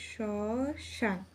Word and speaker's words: শ্মশান: না উচ্চারিত হয় না যেমন শ্মশান শসান এখানে স এর সাথে যে ম ফলাটা রয়েছে সেটি অনুচ্চারিত থাকবে তাহলে এখানে উচ্চারণটা হবে শশান তারপর রয়েছে স্মৃতি স্মৃতি এখানেও